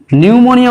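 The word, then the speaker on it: pneumonia: তারপরে দেখো নিউমোনিয়া বা রক্তাল্পতা রোগ, এক্ষেত্রে কি হচ্ছে দেখো পি দিয়ে শুরু হবে কিন্তু উচ্চারণের সময় কিন্তু পি উচ্চারিত হবে না। এক্ষেত্রে কি হবে, শুধুমাত্র বানানের ক্ষেত্রে পি কাজে লাগছে, পি তারপরে নিউমোনিয়া, কিন্তু উচ্চারণের সময় নিউমোনিয়া উচ্চারিত হবে, অর্থাৎ পি সেখানে সাইলেন্ট হয়ে যাবে।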